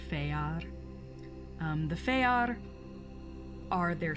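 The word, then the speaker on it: fëar: yeah it's called the feyar it looks like fear but it's pronounced feyar um the feyar are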